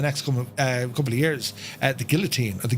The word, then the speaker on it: guillotine: The guillotine, or the guillotine, as it's pronounced.